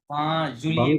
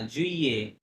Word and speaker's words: juillet: না, জুলিয়ে 20 juillet. জুলিয়ে না, জুইয়ে, ডাবল Juillet.